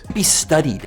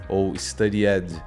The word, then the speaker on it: studied: A gente não costuma pronunciar o e. Perceba studied. Studied.